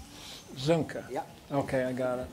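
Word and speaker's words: Soehnke: Spell it again. Zunke. Zunke.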